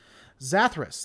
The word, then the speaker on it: Zathras: for Hosea I think that's what it was zathras that's how you say it's a therus yep